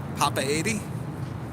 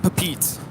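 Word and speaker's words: Papeete: say it in English when you know in the actual country it's pronounced differently it's a pot by 80 Papa 80. it's definitely not papeet I've heard that too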